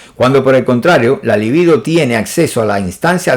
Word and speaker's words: libido: Pero la libido, yo digo libido porque esto no tiene tilde, ¿eh? Todo el mundo dice líbido, pero eso no lleva tilde, entonces yo digo libido, ¿verdad?